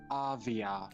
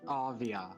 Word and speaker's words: Avia: Avia. Avia? Like Aria from Mesa. Yeah, Avia. Okay.